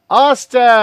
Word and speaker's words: Ostach: Let's welcome his last name rhymes with mustache. Mark Oach.